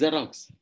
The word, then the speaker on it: Xerox: Similarly with X, Xerox is Xerox.